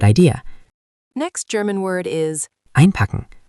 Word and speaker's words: einpacken: Next German word is Einpacken. Pronunciation, einpacken.